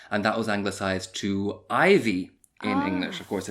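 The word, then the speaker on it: Iveagh: It's not ivy like the plant. Ivy E A G H is how it's written down, but pronounced Ivy.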